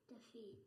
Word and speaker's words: defeat: Is it defeat or defeat? Defeat. Yes. It's on the last syllable.